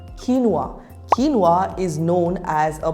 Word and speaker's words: quinoa: say this one quinoa the correct pronunciation is quinoa repeat after me kinwa kinoa is known as